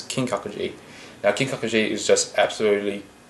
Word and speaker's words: Kinkakuji: and i don't yeah so the last one was g spelt with a g this one spelled like k this is kinkakuji now kinkakuji is just